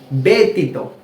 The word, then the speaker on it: ব্যতীত: বজলা ত দীর্ঘিকার তি তারপরে ত কি হয় বেতিত আমরা কিন্তু ব্যতিত পড়ছি না কি পড়ছি ব্যতিত অর্থাৎ বজ ফলা এর উচ্চারণটা এ এর মত করছি বে কেননা এরপরে